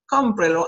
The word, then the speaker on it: Cómprelo: But then there is an accent mark that happened in the first, second, third syllable. You have to count, including the pronoun 1, 2, and 3. Cómprelo, and you mark the accent.